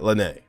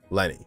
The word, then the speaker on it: Lyney: pronounce there is Linda there's Lenny not Lanae Lenny Lenny Lenny Lenny Lenny